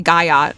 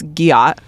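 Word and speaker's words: gyat: Does your kid say gayat the wrong way? It's giat, but like they do.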